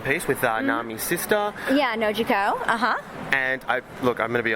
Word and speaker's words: Nojiko: Yeah, Nojiko, And I'm going to be honest, I did not want to try to pronounce that name.